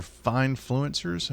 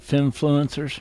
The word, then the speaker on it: finfluencers: we trust financuers or fine fluencers? How do you say that? Fine. Fin like financial fine fluencers like fintech. Yeah. But fin influencers.